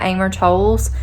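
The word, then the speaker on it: Amor Towles: it but it's a gentleman in moscow by amer tolls i think that's how you say his name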